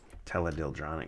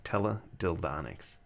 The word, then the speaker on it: teledildonics: that's what the um teledyldronic type thing and i keep saying it wrong teledildonics and that's basically like